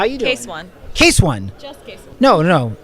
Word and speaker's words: Case.one: how you taste one case one no no its case that one what's good the dot is silent and the dot is